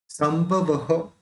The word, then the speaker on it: संभवः: संभवः, ये जो विसर्ग है इसका भी अप्रोनाउंस होगा, संभवः।